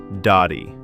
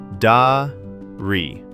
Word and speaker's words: dari: Dari. Dari.